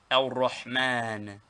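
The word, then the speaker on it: الرحمن: The Compassionate One, Al-Rahman, Al-Rahman.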